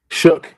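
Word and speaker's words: Shough: Shook. Yeah, I butchered it.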